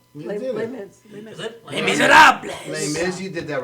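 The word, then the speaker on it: Les Misérables: Not really sure how to pronounce that play. You did it. Is it? Les Miserables.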